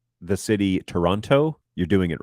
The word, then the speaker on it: Toronto: you pronounce the city Toronto you're doing it wrong uh you don't pronounce the T you run the N into the O so it's Toronto Toronto no okay Toronto